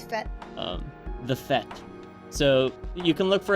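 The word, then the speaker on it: Fête: Is it French? It is French. It is Fete. I think it is. Isn't that the party? Yes, like the party. Yeah, it's Fete. The Fete.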